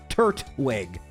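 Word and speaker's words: Turtwig: This means we're going to be starting with either Chimchar or Turwig. People got really mad last video. I underpronounced the second T. So, Turwig.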